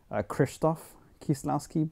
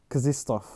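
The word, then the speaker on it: Krzysztof Kieślowski: I used to always call him Krzysztof Kieslowski, but apparently that's not right. You don't really pronounce the R. According to a YouTube video I watched right before this one, it's like Krzysztof or something like that.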